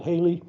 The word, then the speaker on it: Halley: see it in 1986 so we in America called it Haley in England it's called